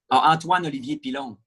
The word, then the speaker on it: Antoine Olivier Pilon: Antoine Olivier Pilon.